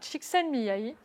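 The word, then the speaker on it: Csikszentmihalyi: concept que l'on doit à chiken Mii donc ça se prononce comme ça mais ça s'écrit de manière très compliquée et en fait c'est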